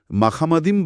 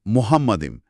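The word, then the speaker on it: מחמדים: হ্যাঁ উচ্চারণটা হল মাখামাদিম বা মোহাম্মাদিম। মুসলিম গবেষকরা বলেন এই শব্দের সাথে মোহাম্মদ নামের সাদৃশ্যটা কোনভাবেই কাকতালী হতে পারে না।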